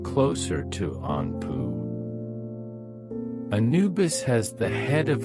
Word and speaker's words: Anpu: His name in hieroglyphics is pronounced closer to Anpu.